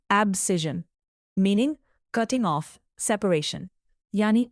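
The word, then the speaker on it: abscission: इसका प्रोनाउंसिएशन है एब्सिजन meaning cutting of separation यानी अलग करना या काटकर अलग कर देना।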